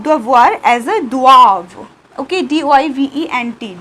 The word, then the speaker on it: doivent: Okay, D-O-I-V-E-N-T, doivent, but we do not pronounce E-N-T, so pronunciation is doivent.